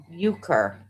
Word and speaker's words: euchre: I am not sure how to pronounce that word. Neither. So he's on the roster. You're confusing us. Wow. Euchre.